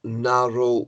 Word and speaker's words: narrow: logical thing is more narrow than but narrow ends in a semi-consonant because w is pronounced o narrow see that and